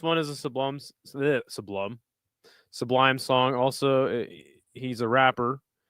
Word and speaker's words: Sublime: I had some friends growing up that would say it like sublime. And I was like, what the is wrong with you? Stop saying sublime. It's sublime. It's all one flowing word. It's not sublime.